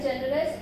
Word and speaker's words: generous: So he is a generous man. So here the word generous is ending with S, and this is a three syllabic word, generous. So we are going to stress syllable number one.